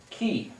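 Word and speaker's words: כי: For, thus, because, it's the word pronounced ki, or ki kadosh, for he is holy.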